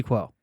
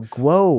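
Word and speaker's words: Kuo: leaks than ming chi quo and i've been doing this for like you're saying his name wrong dude call me chi sorry no guo whoops you're saying whoops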